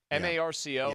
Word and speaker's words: Marco: Is it Marshall or Marco? Oh, did I get his name wrong? M-A-R-C-O?